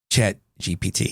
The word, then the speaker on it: ChatGPT: Say it right. ChatGPT. There you go. ChatGPT.